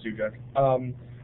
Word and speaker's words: Suchek: If, and I'm forgiving the pronunciation, is it Suchek? I'd like to ask a question. If you'd like to go ahead. Yeah, that was actually pretty close. It's Suchek.